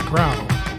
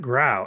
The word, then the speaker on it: Grau: I would like to introduce the creator of CthulhuTech, Grau. I hope I'm saying it. I really should have asked you that beforehand. Is it Grau or Grow? Yeah, you're saying it correctly, and thank you.